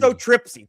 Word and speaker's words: histotripsy: Get the name Histotripsy. Thank you. It's called histotripsy.